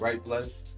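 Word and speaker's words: Rype Life: thing but um ultimately my brand is called ripe life which is spelled R Y P E life and it stands for reaching peak Elohim.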